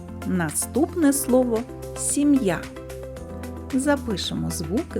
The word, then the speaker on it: сім'я: складів два склади визначимо куди падає наголос покличемо сім'я наголос падає на звук а наступне слово солов'ї запишемо